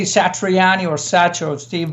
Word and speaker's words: Satriani: So we always pronounce it the way it's written. So of course you say Satriani or Sach or Steve V or Darzio or the or the whatever.